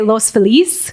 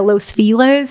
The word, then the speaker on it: Los Feliz: well i mean you would say los feliz but white people have turned it into los fellas and i used to get really upset about that because i was like i know that's not how you say it yeah but um